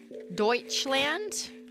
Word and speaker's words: Deutschland: accidentally default to British Deutschland this letter is impossible foreign lands like the a in the word car car Dutch land large and I can't